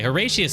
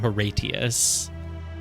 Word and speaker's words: Horatius: you horatius her okay horatius has got to be pronounced with a sh sound it's not herius no way hey hey